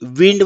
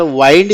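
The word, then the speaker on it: wind: for example letter bat आणि दुसरा प्रकार म्हणजे spelling same but pronunciation and meaning change जसे की डब्ल्यू आय एन डी विंड म्हणजे वारा आणि डब्ल्यू आय एन डी याचा उच्चार वाईंड केल्यानंतर वाईंड म्हणजे गुंडाळणे इफ यू नो मोर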